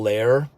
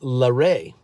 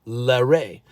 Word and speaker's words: Lehre: people called me Lair Lair laher Lair and um it's actually pronounced larae that's how we say it larae so I always had